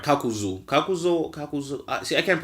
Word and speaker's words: Kakuzu: Then we have the guy with the 5 hearts, our main man Kakuza, right? I'm saying that right. Kakuzu.